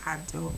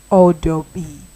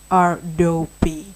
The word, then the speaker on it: Adobe: Well, anyway, Adobe is not pronounced Adobe. It is pronounced Adobe. Yes, exactly. You heard me correctly. Adobe.